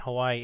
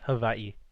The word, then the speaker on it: Hawaii: like H Hawaii isn't Hawaii it's Havi like with a V hav Havi man why'